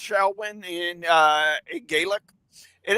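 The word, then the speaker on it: Samhain: things on this on uh shawin it it's pronounced shawin in uh a GIC it is a pagan religious Festival origined from an ancient Celtic Spirit tradition in modern times Sam samim a gelic word pronouncing sou went is usually celebrated October 31st to November 1st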